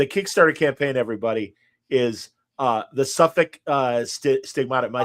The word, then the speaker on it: Southwark: So the Kickstarter campaign, everybody, is the Southwark Stigmata. Am I saying it right? Southwark?